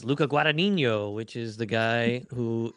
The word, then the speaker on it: Luca Guadagnino: And it's Luca Guadagnino, which is the guy who did. Excellent pronunciation.